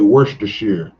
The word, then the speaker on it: Worcestershire: how you say it am i saying it wrong where's dear sheer nah man we say worship we say worcestershire down here now here